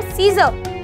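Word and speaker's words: scissors: Muscle, पर यहाँ पर हमने केवल S को प्रोनाउंस किया और C को छोड़ दिया। अगर मैं बोलती हूँ सीजर, तो सीजर में भी S और C एक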